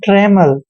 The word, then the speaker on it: trammel: दोस्तों टी का उच्चारण टे करते हैं, आर को रे पढ़ते हैं, ए को ए की मात्रा पढ़ते हैं, डबल एल का उच्चारण मैं करेंगे, और यहाँ पे ई एल का उच्चारण ले करेंगे, मतलब ट्रेमल।